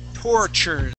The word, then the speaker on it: tortures: This word here, this word here is tortures. So that T-U-R, okay, T-U-R, okay, that's going to be a C sound, C-H sound, tortures.